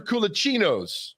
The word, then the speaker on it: culaccino: traveled to italy with kulasino's or culaccinos culaccino yeah that's how you pronounce it all right katherine what's